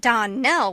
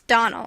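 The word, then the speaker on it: Donnell: not as for that don nell woman she'll get no don knelling from me i can assure you the name is donal and always has been the woman is crazy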